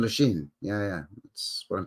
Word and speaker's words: Lachine: Lachine, French pronunciation, Lachine.